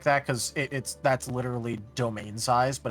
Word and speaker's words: demesne: By the way, the way you pronounce that, funnily enough, is domain.